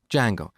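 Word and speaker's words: Django: D Jango so it's spelled with a silent D and it's pronounced D Jango it's a web framework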